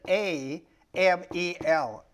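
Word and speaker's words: עמל: That's an A, that's a silent. That thing that looks like a Y is silent. So it starts with an A, M-E-L, amel.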